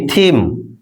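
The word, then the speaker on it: theme: কিন্তু এখানে দেখো, টিএইচ এর পরে ই থাকা সত্ত্বেও থ এর উচ্চারণ হচ্ছে। কেমন? টিএইচ ই এম ই, থিম, theory, দেখো টিএইচ এর পরে ই আছে তবু কিন্তু আমরা থ এর উচ্চারণ করছি।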